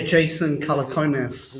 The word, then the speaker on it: Jason Calacanis: So, first of all, if you want to explain I don't know how to pronounce his name, but is it Jason Calacanis? Yeah, Jason Calacanis.